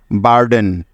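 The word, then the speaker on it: burden: সেজন্য নিয়ে নিলাম র সুতরাং বি ইউ আর মিলে হয়ে গেল বার এখন আছে ডি তাই নিয়ে নিলাম ড ডি ই এরপরে ই আছে যার জন্য নিতে হবে একার তাহলে ডি ই মিলে হলো ডে এবং সবার শেষে বাকি আছে এন তাই নিয়ে নিলাম ন ব্যাস ডি ই এন একত্রে মিলে হয়ে গেল ড্যান বার্ডেন বার্ডেন বার্ডেন অর্থ হলো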